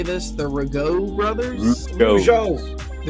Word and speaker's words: Rougeau: In the ring to my right, from Montreal, Quebec, Canada, at a total combined weight of 472 pounds, Chuck and Raymond, the Rougeau brothers.